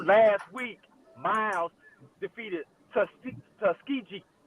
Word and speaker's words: Tuskegee: week miles defeated tus tuskiji not Tuskegee tusk G so that that irks me when they mispronounce our school things uh folks it's all corn it's all Banning and it's tusky G not tusky g anyway the the fact